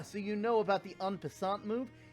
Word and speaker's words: en passant: Ah, so you know about the en passant move? It's pronounced en passant.